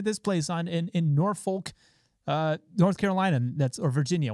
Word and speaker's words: Norfolk: North Norfolk it's pronounced n o R fol K but everyone around there called it Norfolk or no whatever it is they just didn't say it the way that it was spelled so we're gonna run